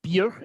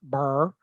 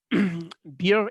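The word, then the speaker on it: Byrrh: first is from the southwest of france uh beer it's it's pronounced uh not burr um beer is from what we call today the russian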